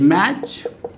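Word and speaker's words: match: अगला है MA मैच। देखिए MA मैच, T साइलेंट।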